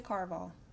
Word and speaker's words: Caraval: to say it series I say Carval because it sounds like Carnival I don't want to